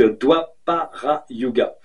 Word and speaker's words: Dwapara Yuga: Alors, ça fait DW. Donc DWA, doit. Donc Dwapara Yuga.